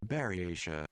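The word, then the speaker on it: Buryatia: Berata.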